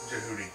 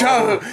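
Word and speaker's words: Djehuty: It is Jehudi. Yes. Jahudi. Jahudi. Jahudi. Isn't It rhymes with Jabooty.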